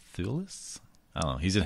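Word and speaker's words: Thewlis: ] from this far David t h w l i s thulis thulis I don't know he's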